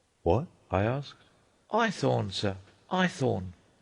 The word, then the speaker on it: Haythorne: "My name's Eyethorne." "What?" I asked. "Eyethorne, sir. Eyethorne." "Spell it."